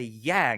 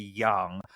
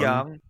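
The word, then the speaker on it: 阳: that it should be young um but whatever you know potatoes potatoes here we go can you hear that yeah young yeah it's it's second tone young young young yes it's not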